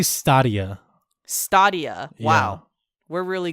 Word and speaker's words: Stadia: They say Stadia.